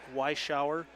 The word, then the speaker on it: Weishauer: Weishauer is the correct pronunciation.